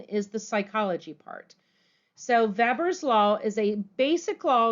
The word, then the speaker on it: Weber: law it's actually pronounced Weber's law like a V because it is German but I'll pronounce it Weber's law just so you